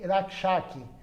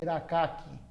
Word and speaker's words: Rakshak: Alguns falam Bhakti Rakshaki, mas o Bengali não fala esse S. Ele não fala Bhakti Rakshaki, ele fala Bhakti Rakaki. Ele não pronuncia o S, o Bengali.